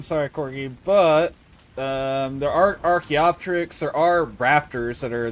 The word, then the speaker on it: Archaeopteryx: So I can't show you that one, sorry, Corgi, but there are Archaeopteryx, there are raptors that are the nondescript, more or less Utah raptors from Jurassic Park. Archaeopteryx. Archaeopteryx.